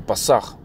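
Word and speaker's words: Pesach: Pronounced in Hebrew, in the ancient Hebrew, so to speak, the Pasach.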